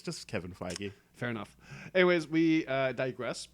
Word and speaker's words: Feige: Like, I still can't even say Kevin Feige. Feige. Feige. Feige. Damn it. There you go. It's just two syllables, just- Phi and Gi.